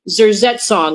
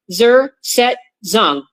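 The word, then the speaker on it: Zersetzung: what's called, let me bring it up here, zerong. And I'm going to spell it. Z E R Zet Zong.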